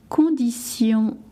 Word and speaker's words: conditions: Quelles sont vos conditions d'annulation? All right, I'll repeat. Quelles sont vos conditions d'annulation? Make sure that in French the TI from condition et annulation is pronounced s, not sh.